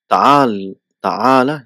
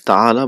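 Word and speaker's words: تعال: So Al-Mudarris says, Ta'ala ya Hisham. So we know how this Ta'ala is constructed. So it is Ta'ala, but normally just pronunciation is Ta'al.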